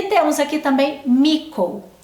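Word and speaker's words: Mitko: e temos aqui também mico se escreve mítico mas pronuncia mico Ele é um garoto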